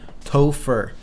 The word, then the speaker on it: Topher: Topher. I can't believe I actually look up a way to pronounce that name. Topher.